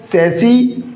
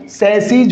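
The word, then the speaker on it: chassis: सैसी, और वो क्या हो जाएगा? प्लुरल वाला। स्पेलिंग तो यही रहेगी लेकिन उच्चारण सैसीज होगा।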